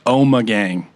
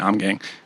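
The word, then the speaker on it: Ommegang: out too she that's the first thing that the the Brewers said was oh my gang I've been saying it wrong this whole time yeah I've been saying I'm gang um last year we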